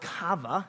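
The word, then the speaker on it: qavah: waiting it comes from this word called cava actually interesting word but that's how it's how it's pronounced and it means to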